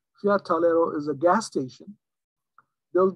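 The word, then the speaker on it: Tagliero: it's is in italian it's called talero g is a sort of silent fiat talero is a gas station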